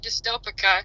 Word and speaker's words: Dystopica: am good um our band name is actually dystopic dyst oh yeah it's hard to pronounce so uh yeah Dy yeah and we